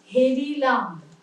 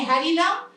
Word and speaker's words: হেরিলাম: দন্তের নয় হস্য, হেরিনু, তাহলে হেরিনু, হেরিলাম, ওখানে হ্যারিলাম, হ্যারিনু নয়, আবার হেরো নয়, হেরো মাঠের পথে ধেনু নয়, হেরো মাঠের পথে ধেনু, কারে হেরিলাম।